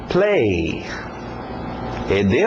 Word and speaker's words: played: Play. ED no final, no passado, mas só o som de um D.